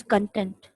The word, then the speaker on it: content: कुछ लोग कंटेंट को कंटेंट कहते हैं, कुछ लोग कंटेंट को कंटेंट कहते हैं. यहाँ पे कैसे आप फाइंड आउट करोगे कि आपको क्या प्रोनाउंस करना है? व्हाट इज द असल वाली pronunciation? What is the correct pronunciation of this word? Let me tell you. This word here is कंटेंट.